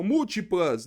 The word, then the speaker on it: múltiplas: então a sílaba tônica múltiplas não é pl Não é o é o m múltiplas não é a última não é a penúltima é a anti penúltima quando a anti penúltima